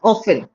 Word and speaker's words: often: Now the word often also, many people go ahead and pronounce it as often. Often Yeah. is not the correct pronunciation. It's often.